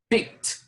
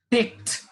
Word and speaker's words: picked: this word that is picked picked you pronounce this word as if you are putting a t at the end pit picked picked peck